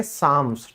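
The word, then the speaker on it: psalms: फिर है भजन, भजन को इंग्लिश में हम कहते हैं साम्स, ठीक है, जो धार्मिक गीत गाए जाते हैं, दैट्स कॉल्ड साम्स, ठीक है।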